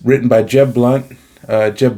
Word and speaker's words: Blount: it's written by Jeb blunt uh Jeb Blount Jeb blunt I think is how you pronounce his name b-l-o-u-n-t um I've read a